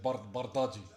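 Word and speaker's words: Bardghji: They said, "How do you pronounce your last name?" And he said, "Barti."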